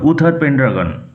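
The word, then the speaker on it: Uther Pendragon: উচ্চারণ লক্ষ্য করো। উথার পেন্ড্রাগন।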